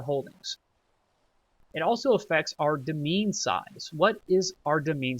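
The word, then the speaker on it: demesne: and it says your demean consists it looks like demin but I'm pretty sure it's pronounced demean kind of like domain your demean consists of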